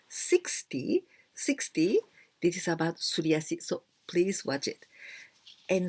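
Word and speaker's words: すり足: si and yoriyasi well suryasi and also the the the pronunciation it is not tsu not the sound of t s youtu suryasi but this is well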